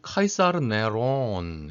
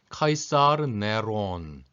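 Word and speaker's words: קיסר נרון: 그래서 이게 읽으면 카이사르 네론 이렇게 읽습니다. 히브리어로 네로 황제를 써보면 이렇습니다. 카이사르 왜 그러잖아요. 카이저. 영어로는 물론 시저라고 발음하지만 황제를 우리가 카이저라고 발음하지 않습니까?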